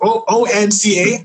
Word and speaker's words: Onca: and so I believe you did it with Onca or O-N-C-A.